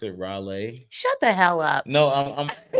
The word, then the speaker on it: Raleigh: city the one in North Carolina Raleigh yeah Raleigh I mean that's a r Raleigh I'm in